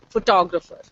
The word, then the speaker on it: photographer: with irregular stress patterns the same word photograph photography photographer now when you say photograph why don't you say photograph you don't do that so it is photograph but photographer so here you have stressed on four and here you are stressing on toe similarly economics economy economy